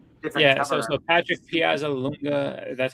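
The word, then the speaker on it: Piazzalunga: So So Patrick Piaza Lunga, that's how you say his name.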